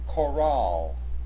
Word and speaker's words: chorale: Therefore, the proper pronunciation of this word has the accent on the second syllable, chorale.